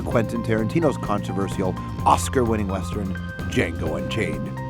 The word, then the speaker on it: Django: Tarantino's controversial Oscar-winning western, Django Unchained. The D is silent.